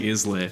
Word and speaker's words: Islay: Oh, okay, then that is Where do you, Islay. where do you think Yeah, I'm it's getting Islay. Islay from? Yeah, the fact that there's a silent S on there. Oh, yeah, then it's- It's S for silent.